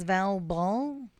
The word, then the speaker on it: Val Ball: My name is Val Ball. Rhymes with foul ball because sometimes I'm out of line.